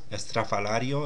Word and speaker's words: Estrafalario: Estrafalario is the correct pronunciation, which means outlandish or eccentric.